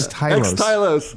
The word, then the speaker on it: Xtylos: What's the correct pronunciation? Xtylos.